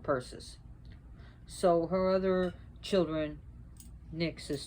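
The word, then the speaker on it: Perses: Not Perseus, but Perseus.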